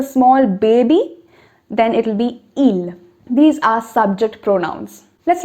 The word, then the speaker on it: ils: looks like ill now i'm not saying il looks like ills okay because the last letter is not pronounced both of them are pronounced the same way so ill in plural